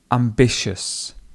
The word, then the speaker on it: ambitious: Ambitious, ambitious. He's a really ambitious person, and the stress would go in the middle on the I.